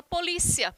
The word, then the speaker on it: polícia: dessa palavra por exemplo para a gente em português a gente fala polícia já em espanhol seria policia então a sílaba tônica seria uma outra recai uma outra sílaba